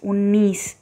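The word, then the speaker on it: उन्नीस: அடுத்து இன் நீ இஸ் உன்னீஸ் 19.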